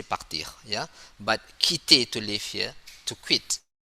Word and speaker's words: quitter: But quitter, to leave here. To quit. Okay. And then 5. This is the word with Q with letter Q. And then we have to pronounce K.